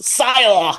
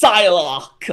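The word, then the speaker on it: Psylocke: I remember asking them did they have a pyck and I remember like this like nudie horrible man being like it's actually pronounced psylock and he was American as well and that's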